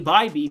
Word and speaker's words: Bybee: Tanner Bybee going up against Nick Lodolo, and I did say Bybee because he's been improved enough that I want to give him his due and pronounce his name correctly.